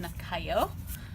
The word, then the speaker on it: Nakayo: So not Japanese, which I thought, because that would be pronounced, well, they don't have the Y anyway. But it's pronounced Nakayo.